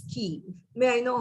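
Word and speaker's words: quay: the fact that you pronounce q u a y rightly as key may i know how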